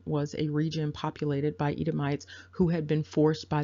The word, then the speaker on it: Edomite: Again, if you are looking at scripture and you're looking at translations, you will tend to see that ITE pronounced E. So Edomi is another way of pronouncing that.